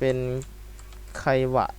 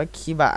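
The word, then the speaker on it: キバ: นี้ ก็ จะ เป็น ไควะ มัน อ่าน ว่า คิบะ แหละ ผม ก็ เรียก ว่า คิบะ น่ะ แหละ กระโดด คิบะ คิก ดู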